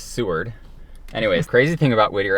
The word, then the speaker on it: Seward: And the way you pronounce seaw word is Seward.